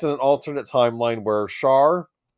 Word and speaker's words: Char: Mobile Suit Gundam GX takes place in an alternate timeline where Char I think it's Shaw. That's the actual pronunciation.